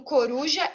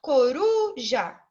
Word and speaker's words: coruja: duro e Ciro do coruja eu falei naturalmente mais alto coruja né então eu tenho mais intensidade eu retiro aí que tá vermelho ele está localizado como a penúltima sílaba da minha palavra Então nós vamos chamar